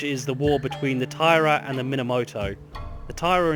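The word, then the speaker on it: Taira: be playing as the Tyra now I've heard this pronounced a few different ways including Tiara but I'm going to stick with Tyra for now because it's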